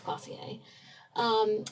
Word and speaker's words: Glossier: Okay, the next one I'm going to talk about is Glossier, and yes, that is how it's pronounced because I asked my millennial friends, and it's Glossier.